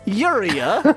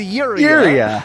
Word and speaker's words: Urea: - not the pronunciation it's urea her name is your area like the the the chemical in piss that's her name area